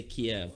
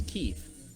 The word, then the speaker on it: Kyiv: Kyiv. I keep wanting to say Kiev, but I think Kiev is a city someplace else, and I think it's spelled K-I-E-V. This is K-I-Y-V.